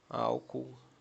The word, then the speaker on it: álcool: É a antipenúltima sílaba tônica. Hum. Que que significa isso? Exemplo, álcool.